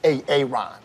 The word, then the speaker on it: Aaron: I said it like four times, so why didn't you say it the first time I said A.A. Ron? Because it's pronounced Aaron?